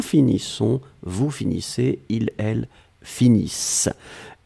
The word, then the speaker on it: finissent: Nous finissons, vous finissez, ils, elles finissent. ISSENT, mais on ne les prononce pas, donc le ENT comme d'habitude.